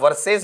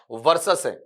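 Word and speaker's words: versus: हुआ है ना बेटा इसे आप वर्सेज मत पढ़ देना इसका उच्चारण बेटा क्या है आपका वर्सस के विरुद्ध में अपने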